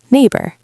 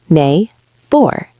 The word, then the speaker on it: neighbor: Now let us look at the word neighbor. Neighbor. This one also has 2 syllables, right? Yes, exactly. Nay, bor. The heavy stress is also on the first part. Neighbor.